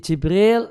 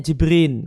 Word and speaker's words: Jibril: Bagaimana kalimatnya mungkin dari bahasa Arab jibrin jadi Jibril salah satu Salah satu cara bacanya jibrin kemudian dilidah uang Eropa jadi Gibran besarnya di